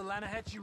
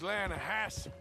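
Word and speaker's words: Lannahechee: The other day, I rode down to the Lanahatchee River. I caught some beautiful steelhead trout. You mean the Lanahassee River? No. The Lanahatchee. It runs right near here. Yeah, but it's pronounced Lanahassee.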